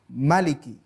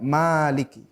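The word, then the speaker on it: مالك: jangkrik itu membacanya pendek Maliki tidak Maliki Hai namanya varian bukan perbedaan istilahnya adalah multiple reading perbedaan dalam pengertian varian bacaan kita boleh membaca dengan Malik panjang atau Maliki dengan bacaan pendek Hai tapi intinya bahwa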